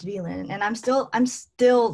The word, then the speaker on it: Vylinh: confidence to say like oh my name's actually pronounced villain and i'm still i'm